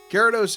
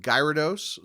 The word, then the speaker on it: Gyarados: First of all, until he showed up in the anime, I pronounced him Gyarados, sometimes with a hard G, sometimes with a soft G, Gyarados.